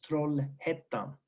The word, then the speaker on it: Trollhättan: You can see it's pronounced Ä, so it's Trollhättan.